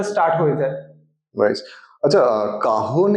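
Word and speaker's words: Cajón: আচ্ছা, কাহন is basically spelled as ক্যাজন, CAJON, বাট যেহেতু এটা স্প্যানিশ বা সাউথ আমেরিকান মার্কেটে বেশি প্রচলিত, ওদের ওখানে যেটা বেসিক্যালি সাইলেন্ট, যেটাকে এইচ বলা হয়, তাই তো?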